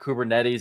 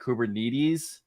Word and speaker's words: Kubernetes: So I think it's like, it's not Kubernetes, it's like Kubernetes is like how you say it in Greek.